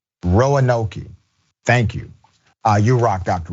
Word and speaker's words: Roanoke: By the way, for audio only viewers, the pronunciation is Roanoke.